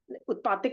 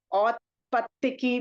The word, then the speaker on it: औत्पत्तिकी: सो उत्पातिक बुद्धि को उत्पातिक नहीं बोलते हैं, औत्पत्तिकी बुद्धि बोलते हैं, औत्पत्तिकी।